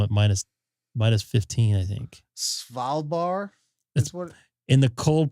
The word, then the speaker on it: Svalbard: Salvarbard? How would I pronounce that? It's Norwegian, Svalbard.